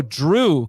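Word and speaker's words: Jrue: Yo, Drew, Chris, and Brooke. Drew is spelled J-R-U-E.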